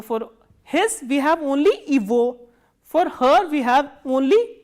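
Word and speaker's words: его: And one more thing you have to remember is, in this combination, this g is pronounced as v, not as g. So, how will you pronounce this? Ivo, not as ego.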